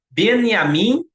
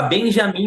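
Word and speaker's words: Binyamin: vou pronunciar de novo a mídia fala Benjamim Natani mas não é é beniamin Natani porque no hebraico não existe a pronúncia da letra J né e não é yarro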